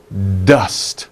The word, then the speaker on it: dust: sound dust dust okay be careful with the ending sound don't put uh at